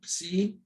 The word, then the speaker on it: Psi: Psi, P-S-E-E, psi, and it's the P-S, as in lips, ps.